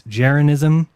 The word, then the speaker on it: jeranism: issues with my name it's geronism like your religion scientism you should be able to get that one and second i didn't